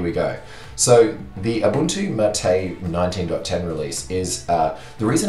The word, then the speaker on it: MATE: particularly we're going to be looking at the MATE version.